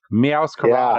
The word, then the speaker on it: Meowscarada: I could never even pronounce this. Meowscarada. Oh, Meowscarada. Meowscarada.